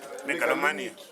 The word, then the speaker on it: megalomania: ramusina kuzotaura mati inonzi chi mengoli what megalithic megalomania megalomania spell it a megalomania is a person Staba smela spell it first spell M E U A L M-A-N-I-A.